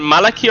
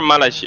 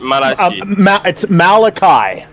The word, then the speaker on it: Malachi: Is it Malaki or Malachi? It's Malachi.